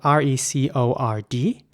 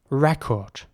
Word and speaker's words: record: Okay, this next word is spelled R-E-C-O-R-D. And in British English, it would be pronounced record. Record. The C in the middle of the word is pronounced like a K, record.